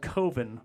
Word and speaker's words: Coven: a cult it's called coven by the way spelled like coven but he's sounds like oven I don't want my